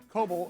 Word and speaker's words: Kobel: Bryan Kobel, or as Greg just says, Kobel, because he's saying it wrong.